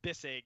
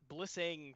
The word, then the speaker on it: Bissig: So it's Bissig. Is how it's said. What do I say? Yeah, everything. I get Bisig. I got Blissing from the commander last time he referenced me the other night.